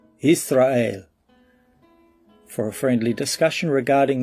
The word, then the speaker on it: Yisra'el: Stop saying Yashar'el and call the people and the land by the name that Yahweh gave it in the Hebrew tongue, Yisra'el.